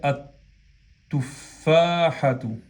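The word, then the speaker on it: التفاحة: fusiona y se dice at-tufahatu, at-tufahatu, ¿ok? At-tufahatu. Se escribe el y se pronuncia at-tufahatu.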